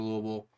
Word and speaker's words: Louisville: over Louisville.